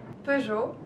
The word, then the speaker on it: Peugeot: Pugot something. Peugeot.